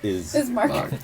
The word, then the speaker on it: Ismark: Ismark. Ismark. Ismark. Ismark. He's either Mark or Bismarck he's without not. the B. His name is. Is Mark. Ismark. My Otto name von is Ismark.